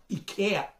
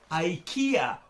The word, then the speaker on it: Ikea: that the name is Ikea Ikea that actually in Swedish is not pronounced like you do in English you pronounce you better